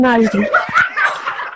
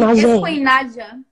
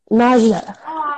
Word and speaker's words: Naja: I said your name wrong, but it's Queen Naji, right? It's Queen Naja. Naja.